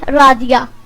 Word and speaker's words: رادیہ: نام ہے رادیہ، رادیہ کے سپیلنگ ہے RADIYA اور اس کے معنی ہے